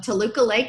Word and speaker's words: Toluca Lake: currently lives in the old Hollywood town of Toluca Lake is that how you pronounce that yeah I've been there yet where